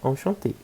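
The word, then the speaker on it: enchantée: A mesma pronúncia, enchanté. Só que a gente escreve com mais um E porque é do feminino.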